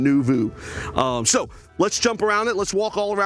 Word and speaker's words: Noovo: the uniqueness of a no nuu see I say it wrong Nu Vu um so let's jump